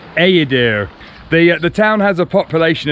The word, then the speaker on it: Eğirdir: it should be pronounced Agadir, but actually the G with a little thing above it means that it's silent. So I think it's Agadir.